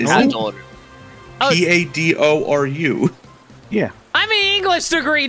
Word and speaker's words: Padoru: I thought I pronounced it correctly. Hadoru. I heard Pandoru. There's an N in there. No, there it's isn't. Pandoru. Oh, Padoru.